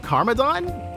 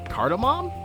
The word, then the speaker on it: cardamom: Wow, cardamom? Or wow, carmadon? I mean, cardamom? It's really difficult to pronounce.